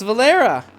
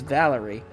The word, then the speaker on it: Valerie: isn't that who's this oh it's valera val valerie valerie i don't want to keep so why did i say why did i say your name wrong it's valerie that's quite the look